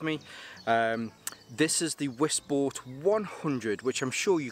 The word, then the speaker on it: Wisport: from the Polish company wisport or I guess it would probably be pronounce vport as it's a Polish company I hope they don't